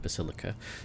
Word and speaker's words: Basilica: The reins of power were picked up by Vladium Tokara, whose appointment benefits not only the Casa Basilica, that's how you say it, Basilica, but also the most powerful ally in the Kronos Expanse, rogue trader Winterscale.